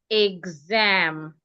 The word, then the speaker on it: exam: So because it is followed by a vowel the X will sound G ex. So it becomes exam.